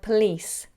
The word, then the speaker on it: police: Could you pronounce the word police? Police. Now, a lot of people struggle with this because it sounds very similar to please. Police, please, police, please. Very subtle difference.